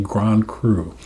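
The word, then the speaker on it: grand cru: the first one being Grand crew spelled like Grand crew Cru which is the the best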